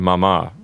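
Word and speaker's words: mamá: And we want to remind our listeners that the accent's on the last syllable of papa and mama.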